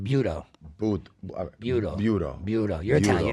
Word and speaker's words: buto: So, everyone start saying buto buto buto.